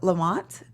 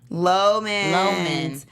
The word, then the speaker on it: Loman: Is it, how do you pronounce his name? Is it Lamont?